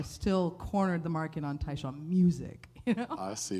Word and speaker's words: Tai Shan: the best way well my name's taon but it's spelled t a i s h an so you have to